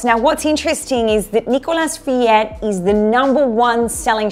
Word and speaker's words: Nicolas Feuillatte: Now, you've probably heard Kiri and I and our team out in the market talking about Nicolas Feuillatte. Yep. Interesting one to pronounce. We've been plugging it uncontrollably. Nicolas Feuillatte.